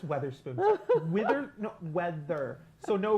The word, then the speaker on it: Weatherspoon: I just learned how to pronounce I just learned how to pronounce her her her her last name an hour ago. I kept calling her Witherspoon. Honey, it's Weatherspoon.